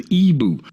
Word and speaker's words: Igbo: Natively, and if you click this right here that says listen, it will pronounce it for you, and the voice says Ibu.